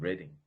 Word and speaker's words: Reading: is the University of Reading. I know you say reading, but it's spelled reading but pronounced Reading.